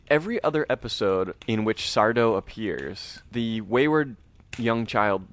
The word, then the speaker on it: Sardo: So here's what I'll say about Sardo, accent on the dough. No mister.